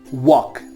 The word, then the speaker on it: walk: Walk, W-A-L-K. And here in this particular word, L is not pronounced at all.